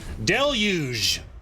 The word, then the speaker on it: deluge: cringe all weekend long i believe it is deluge but it's a tricky one maybe i just mispronounced it too but pretty sure that's del uge like dell is huge but you take out the h or dell's luging yeah